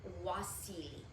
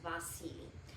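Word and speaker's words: Wassily: And you can also pronounce it Wasili. In America, it's pronounced Vasily.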